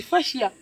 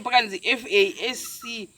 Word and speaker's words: fascia: Guys, and I thought you would know the fascia. You know, when the fisher say, FASCIA. So not spelling here, pronounce kwacho kuda.